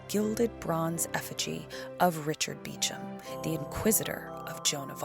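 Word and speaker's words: Beauchamp: in those days in the center of the beum chapel though it's spelled bamp they pronounce it beum lies the Gilded bronze Effigy of Richard beum The Inquisitor of Jon of Arc lastly in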